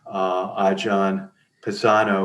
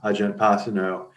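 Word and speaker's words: Ajahn Pasanno: And Ajahn Pisano, which is the true pronunciation, almost everyone calls him Ajahn Pasano.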